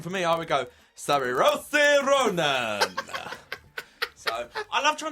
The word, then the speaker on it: Saoirse: I think her name is Cersei. Cersei Ronan. Cersei. But it's spelled Saoirse.